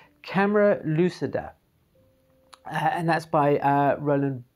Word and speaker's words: camera lucida: reading um also um cameron lucinda or sorry not camera lucinda see i'm doing that again with the mispronunciation of things camera lucida and that's by uh